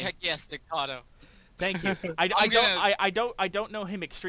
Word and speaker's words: Estacado: Jackie Estacado.